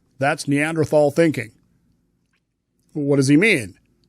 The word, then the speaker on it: Neanderthal: Now, he actually said Neanderthal thinking, but look, there's two correct pronunciations of the word, Neanderthal, Neanderthal. I prefer tall. It's just, as I'm going to say later, I'm not an anthropologist. I don't care. I pronounce it Neanderthal.